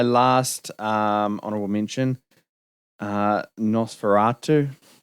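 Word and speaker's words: Nosferatu: um honorable mention uh NOS feratu um oh is that oh I was like is that pronunciation um that's correct yeah that's correct I keep wan to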